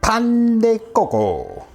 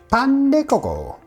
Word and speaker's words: Pan de Coco: okay today we're going to make some Pand Coco that's how you say it Pand Coco I have a one cup of warm milk